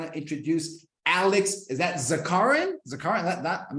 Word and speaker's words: Zakharin: Is that Zakharin? Zakharin? I'm not butchering, right? Original version would be Zakharin, but in this country, people tend to pronounce Zakharin. Zakharin. So that's acceptable by now.